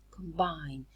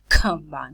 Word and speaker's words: combine: Combine. This occurs initially in the syllable, but the syllable is not stressed. So we don't aspirate the plosive. We don't say combine. We say combine.